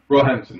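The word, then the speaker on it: Roehampton: University of how do you say it rampton rampton yeah yeah rampton so Dr Cooper is one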